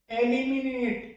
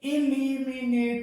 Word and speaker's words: eliminate: इसे एलिमिनेट, ए करके प्रोनाउंसिएशन इसका किया जाता है, ए करके। जबकि इसका सही जो प्रोनाउंसिएशन होता है वो इलिमिनेट होता है, इलिमिनेट, ना कि एलिमिनेट।